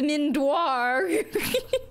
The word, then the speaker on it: Mindoir: your mind sweeper character isn't this Deep Mind sweeper door actually it's mindoir colonist fin get slaughtered